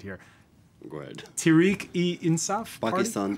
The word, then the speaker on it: Tehreek-e-Insaf: Umar Rehman, who chairs the Paris branch of Imran Khan's Pakistan, let me pronounce it right here. Go ahead. Tehreek-e-Insaf Party? Pakistan Tehreek-e-Insaf.